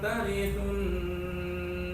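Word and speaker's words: ترثوا: Coba tarithu, thumnya lebih ke ujung.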